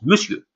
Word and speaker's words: monsieur: Et là, quand on rajoute, on vous dit bonjour, monsieur. Bonjour, monsieur. Alors, regardez comment ça s'écrit. Ça s'écrit monsieur, mais ça se prononce monsieur.